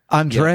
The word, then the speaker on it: Andrea: Andrea. Yeah, absolutely. So that's pronounced like Andrea in The Devil Wears Prada.